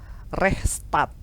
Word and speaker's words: Rechtsstaat: Kalau dalam bahasa Belanda dia dikenal dengan istilah rechtsstaat. Rechtsstaat gitu. Kalau bahasa Belanda kalau ada tulisan double itu dia dibacanya panjang.